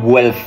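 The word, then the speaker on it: Guelph: meron sa sibuyas kabayan according sa study ng guf tama kong pronunciation yyan g u e l PH h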